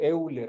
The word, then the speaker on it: Euler: ancho, está lo que es el número de Euler.